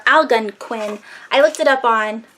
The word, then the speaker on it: Algonquin: uh you see that al al gun ken al gun kin or algonquin I looked it up